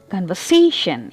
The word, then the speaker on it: conversation: Conversation. Here the stress is on the third syllable.